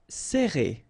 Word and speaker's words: serrer: All right, so interesting here because you get this E and then double R after that. So it will open the sound of E, okay, so you will pronounce it like E.